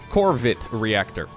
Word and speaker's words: Corvid Reactor: well right there the corvette reactor which i gotta pronounce very delicately in my starcraft casts just because if i forget the r i uh might get demonetized corvid reactor it'll show up on